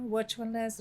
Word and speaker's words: Virtualness: and uh you know virtualness rhymes with happiness awesomeness and the world is